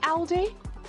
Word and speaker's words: Aldi: at least I'm sorry how do you say Aldi Aldi so I went to Aldi and uh